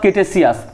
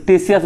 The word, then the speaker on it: Ktesias: টেসিয়াস বা কেটেসিয়াস, কে দিয়ে নামটা শুরু, কিন্তু আমরা এটা টি উচ্চারণ করবো না, KTESIAS, টেসিয়াস উচ্চারণ করবো।